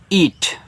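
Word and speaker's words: eat: इसको पढ़ते हैं ईट तो मैंने आपको बताया था कि जहां इ और ए रहते हैं वहां पे बड़ी ई की मात्रा लगती है। लेकिन भैया देखो शुरू में दिए हैं तो क्या मात्रा लगाएंगे? नहीं स्वर बनाएंगे। सेम हिंदी वाले की तरह है। तो यहां पे आपको बड़ा वाला ई कहना है। टी से आप कटा ईट।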